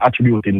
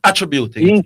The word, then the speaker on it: attributing: It's not attributing, it's attributing. Attributing them to me. But no, I'm saying attributing is the wrong way to pronounce the word. It's attributing. So anyway. The emphasis is placed on it wrong.